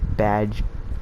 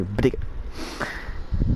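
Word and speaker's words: B'dg: I say badge, but in a playing way I usually just say bdig, because that's how it's spelled.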